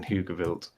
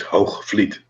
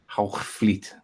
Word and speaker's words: Hoogvliet: The Oosterbeeken building in Heugewild. The horizon should show around. How did you call it? Heugewild? That's funny. Heugewild. In Dutch, it's pronounced as Hoogvliet. Hoogvliet.